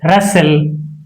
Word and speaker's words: rustle: If a word ends with STLE, T is not pronounced. In this word, STLE is present. STLE. Castle, hustle, pestle, and rustle.